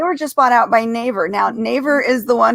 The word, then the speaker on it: Naver: um bought out by am i going to say it right naver you think that's the neighbor okay they were just bought out by naver now naver is the